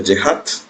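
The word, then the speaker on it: ŷ: Y Y gorro se pronuncia Y hat o Y gorro.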